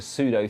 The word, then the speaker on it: pseudo: And so this is kind of like a pseudo 3D transformation, yeah? Pseudo is the right way to say it.